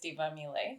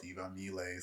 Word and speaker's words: Tivamile: Hi everyone, my name is Tivamile. Yes, and that is Tivamile, spelled with a T, but sounds like a what? D more.